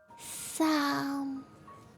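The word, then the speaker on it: 三: I can only say the first tone is high and steady, so it's Sam. Okay. Sam.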